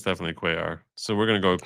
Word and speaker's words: Cuellar: His name is pronounced Cuellar.